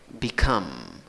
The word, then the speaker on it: become: Divides la palabra en dos sílabas, en ambos casos, la fuerza de voz va en la segunda sílaba contando de izquierda a derecha, en ambos casos, tienes el mismo sonido en la primera sílaba, en ambos casos, cambia la pronunciación en la segunda sílaba. En el presente, become, con schwa, become, y chiquita y schwa al final, schwa, la que no es ni a, ni e, ni o, become.